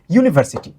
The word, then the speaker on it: University: এই চিহ্নটা কিন্তু সরাসরি ইউ না। ইউনা সরাসরি ইউনা রসীর মতো নয়। এইটা হলো অনেকটা যের মতো।